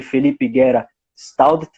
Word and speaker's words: Felipe Guerra Staudt: Bom, então o palestrante é o Padre Felipe Guerra Staudt, é assim a pronúncia, Padre? Me corrija. Certo? Perfeito.